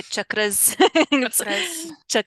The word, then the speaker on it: chakra: a lot that c-h-a-k-r-a you might hear people say chakras we say chakras it's um the Sanskrit pronunciation and we wanted to